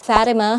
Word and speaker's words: Fathema: basic my name is Fathema, Fathema with feelings because it has letter H so that's why you need to pronounce it with feelings I'm 32 years old,